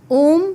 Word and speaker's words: ओम: इसको डिवाइड किया जाता है 20, 30 और 50% में। 20% ये स्टार्ट होता है हमारी नाभि से। और यहां से उच्चारण शुरू होता है आ। फिर हमारी छाती में 30% और इसका उच्चारण होता है ओम 50% हमारे होठों पे